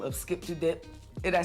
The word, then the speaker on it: Skip 2 Dip: Well, listen, we got this very special Dembow artist by the name of Skip to Dip.